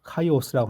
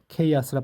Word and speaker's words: chaos: 자, 그다음 보면 executive 하면 집행의, 경영의, 그다음에 임원, 경영진의 뜻이 있고 chaos는 chaos, 혼돈, 무질서, 카이오스라고 하는데 chaos라 발음한다.